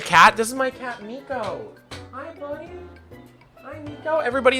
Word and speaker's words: Miko: This is my cat, Miko. Hi, buddy. Hi, Miko. Everybody in chat say hi, Miko. It's spelled M-I-K-O.